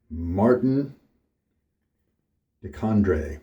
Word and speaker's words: Martin de Candre: Martin de Candre. Martin de Candre, if my high school French gets me a little closer to the right pronunciation.